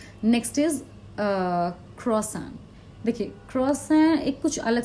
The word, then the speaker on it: croissant: CROISSANT spellings हैं इसके, पर क्रॉइसेंट या क्रॉसेंट या क्रॉसेंट ऐसे नहीं बोलते। इट इज़ मतलब अगर प्रोनाउंसिएशन बताऊँ तो KWASWANG, क्रॉसन ऐसे बोल सकते हैं आप इसको।